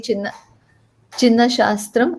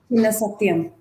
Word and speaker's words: Chinna Satyam: Sarasa, Guru Jairaman Rao, Guru Vempati Chinna Shastram. Am I pronouncing it correctly? Chinna Satyam.